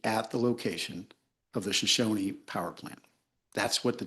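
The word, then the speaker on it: Shoshone: The tribe pronounces it Shosonyi and so do we.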